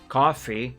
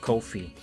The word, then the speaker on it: Ko-fi: Coffee, that's how you pronounce it. I don't know why I keep insisting on saying Ko-fi. My brain keeps telling me the correct pronunciation is Ko-fi, even though apparently it isn't.